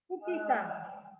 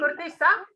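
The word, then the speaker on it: cortiça: And how do you pronounce it? Curtiça? Curtiça. Curtiça?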